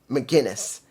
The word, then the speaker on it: McGuinness: I'm mispronouncing McGuinness, which is Guinness, even though I don't drink.